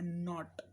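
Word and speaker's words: knot: क्या है, के क्या है, साइलेंट, आप ये प्रोनाउंस करते हो इतना, राइट। और क्या हो सकता है, नॉट, नॉट, बांधने को हम क्या बोलते हैं, नॉट,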